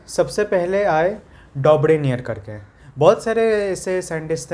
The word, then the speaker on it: Dobereiner: DOBEREINEINR, डॉब्रेनियर। DOBEREINER, ठीक है। डॉब्रेनियर ऐसे प्रोनाउंस होता है।